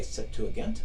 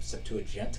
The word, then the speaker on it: Septuagint: Some say Septuagint. I'm a Septuagint kind of pronouncer, which is a Greek translation, an early Greek translation of the Hebrew Bible.